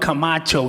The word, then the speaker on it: Camacho: name is Camacho, C-A-M-A-C-H-O, you know, like Macho Man.